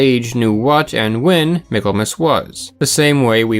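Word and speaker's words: Michaelmas: Though the name is pronounced Michael in English, the correct pronunciation of the holiday is Miklmiss for Michael's mass, a bit like Christmas rather than Christ mass.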